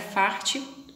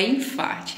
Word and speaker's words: farte: origem dessa palavra mas a palavra é forte tá não é enfarte infarte pelo jeito que se pronuncia acredito que seja de